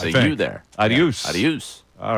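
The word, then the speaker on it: adeus: doing the Google translate it's the same as Spanish normally it's not in Brazil it's aduse aduse you there aduse aduse all right aduse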